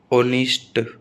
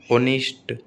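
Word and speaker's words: honest: एच कब silent रहता है, जैसे आवर, एयर, ओनिस्ट, where, when, what, what, which, white, wheel, गाउस्ट। ठीक है, तो एच कब कब साइलेंट रहता है, ये शब्दों के उदाहरण दे दिए हैं मैंने, बहुत इंपॉर्टेंट।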